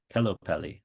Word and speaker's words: kellopeli: kellopeli appelsiini. Kelopeli Appelsini. Kelo rhymes with jello. Peli is like película. Kelopeli.